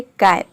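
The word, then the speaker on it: can: देख रहे हैं कि दो कॉन्सोनेंट के बीच में ए आया है। यहाँ पे सी का हो जाएगा क, ए का हो जाएगा आई, एन का हो जाएगा न, तभी इसका प्रोनाउंसिएशन होता है कैन।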